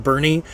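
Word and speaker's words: Boerne: of a German word they dropped the little two dots over the O so it's pronounced Bernie I got corrected immediately upon Landing in Bernie Texas um again there's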